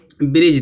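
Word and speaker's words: bridge: इसी तरह से यहाँ पे दिया है ब्रिज दिया है। ब्रिज में देखो जी है और जी से पहले क्या आया, डी, तो क्या हो जाएगा, डी साइलेंट।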